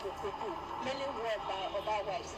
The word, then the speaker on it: Okuku: Okuku, in the first place, rightly pronounced Okuku, is the general hairdo of the Benin people.